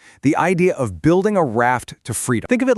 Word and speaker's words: RAFT: Raft, pronounced just like the boat, is an acronym.